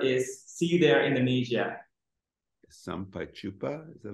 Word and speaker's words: Sampai Jumpa: It is Sampai Jumpa Indonesia. The meaning of that word is see you there, Indonesia. Sampai Jumpa, is that how you say it?